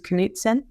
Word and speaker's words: Knutsen: K-A-T, last name's Knutsen, K-N-U-T-S-E-N. I oftentimes tell people you can pronounce it by saying the word canoe, oat, and zen together.